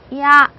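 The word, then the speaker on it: ia: 그래서 앞에는 약하게 하고 뒤에 A는 좀 강하게 발음해서 이야 이렇게 발음하시면 됩니다.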